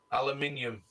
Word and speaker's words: aluminium: If you read it right, yeah. But it's pronounced aluminium. So, what green are we going with here again?